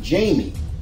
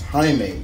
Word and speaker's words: Jaime: little funny story i used to call him jamie i was calling him jamie reyes i'm like but then uh one of my friends um who is hispanic was like no chris um it's it's jaime you you you it's it's the i think